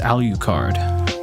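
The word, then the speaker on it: Alucard: name is alukard U they pronounce it with the um the long u so it's ALU card which I think is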